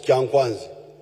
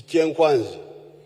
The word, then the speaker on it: Kyankwanzi: When you hear this kyenkwanzi, which the Waganda mispronounce as kyankwanzi, it is kyenkwanzi.